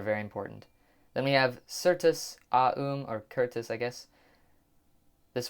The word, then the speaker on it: certus: That's kind of why I pronounced that C as an S sound, I guess, because of certain.